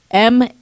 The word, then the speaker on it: Matianak: Matianak. So K silence. Matiana. Okay. Got you. Perfect. Just pronounce it that way.